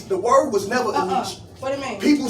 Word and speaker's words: ENYCE: It's spelled ENYCE. You ever seen that brand? NYCE. ENYCE. But people call it a Nietzsche in the hood.